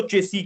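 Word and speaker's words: chassis: इसको चेसी कहते हैं। इसको कहते हैं चेसी। चेसी के स्पेलिंग होते हैं सी एच ए एस आई एस। मतलब लिखते चेसेस है बट इसको प्रोनाउंस चेसी कहते हैं।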